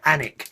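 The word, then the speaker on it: Alnwick: up three points on my license for speeding anak which is spelt a n WIC k and WIC apparently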